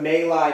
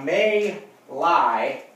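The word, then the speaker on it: My Lai: of those was the male i massacre now may lie looks like my leg okay because it's pronounced male i the male i massacre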